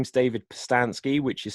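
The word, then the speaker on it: Pustansky: absolute age yeah so my name is David passed on ski which is spelt P USTA n s KY and you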